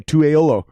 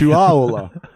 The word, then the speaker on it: Tuaolo: I just realized that I've been pronouncing your name wrong my entire life until I heard you the other day. I've been saying Tuaolo. And it's Tuaolo.